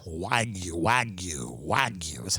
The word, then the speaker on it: wagyu: best cuts of american beef wagyu and lamb waigu wagyu wagyu wagyu that's how you say it i know exactly